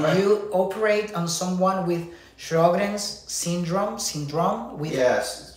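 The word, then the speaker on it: Sjögren's: Doug, I don't know how to pronounce this, but do you operate on someone with Sjogren's syndrome? Yes, Sjogren's syndrome.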